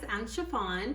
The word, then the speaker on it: Chiffon: chiffon, pronounced like the material, and welcome to my channel.